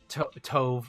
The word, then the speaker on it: Tove: I think I looked up how to pronounce the name when she first came out, and it said Tove, like stove.